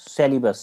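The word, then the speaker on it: Celebes: सी है सीई एल ई बी ई एस सेलीबस सी तो सुलू सी सेलीबस सी उसके बाद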